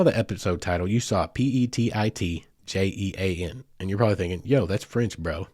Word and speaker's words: Petit Jean: episode title you saw p-e-t-i-t-j-e-a-n and you're probably thinking yo that's French bro that's not Gene and that's not Petty I get it it